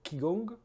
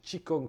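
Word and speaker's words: qi gong: la médecine traditionnelle chinoise nous avons aussi le Kong le chi kong pardon qui s'écrit King Kong qui sort de gymnastique moins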